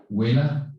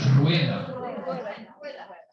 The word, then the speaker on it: rueda: Huela? With an R. Uh-oh, here's my R challenge. Huela. Oh, rueda. Rueda. Rueda. Like that.